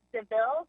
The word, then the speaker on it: Bon Devil: And for anyone that's listening, as you mentioned, it's spelled Bon Devil, but it's pronounced Deville, such as Cruella Deville, and it's just as devilish because it's so delicious, it's so delectable, very rich in flavor.